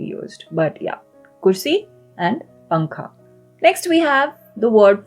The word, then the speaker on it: pankha: Pankha. The N sound is very, it's a very nasal, faint sound, right? It's not a n sound. It's not pankha. It's pankha.